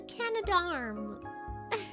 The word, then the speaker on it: Canadarm: It's the Canadarm.